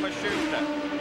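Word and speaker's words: Matsushita: By the way, the pronunciation on Mashusta, that is now how his team says they'd like it used.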